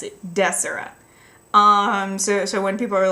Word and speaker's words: Desora: Like, it should be pronounced Desora, like a hard des, like decibel, and then aura, as in like an aura, like that's how it should be pronounced.